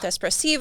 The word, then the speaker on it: espressivo: can people connect with what you're doing with espressivo oh yes um and just to spell this